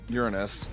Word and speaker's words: Uranus: Uranus is the correct pronunciation.